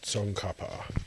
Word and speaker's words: Tsongkhapa: It's pronounced Tsongkhapa.